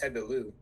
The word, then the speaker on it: Tebillus: like the thing is that the username or like the alias Yeah, is actually pronounced Tebilu. It's Tebilu. like sort of like a verlan. It's kind of like a type of French that's like illustration de